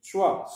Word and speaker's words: choix: H avec quoi ça se lit choix. Sauf que X, هذا حرف صامت نكتبه ولكن لا نقرأه. C'est une lettre muette. C'est une lettre qu'on ne prononce pas.